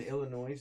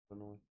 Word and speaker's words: Illinois: In Illinois, it's illegal for underage culinary students to drink alcohol. First of all, did you just pronounce the S at the end of it? Illinois.